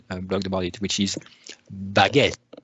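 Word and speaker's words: Baget: Well, Antoine pointed me to another solution, and I saw that Hanselman blogged about it, which is Baguette, B-A-G-E-T, but pronounced as the baguette, the bread in French.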